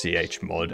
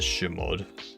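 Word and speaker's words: chmod: Heard someone pronounce CH-mod as Shmod, and honestly they are wrong. Not Shmod, Ch-mod. Ch-mod, just like Chone.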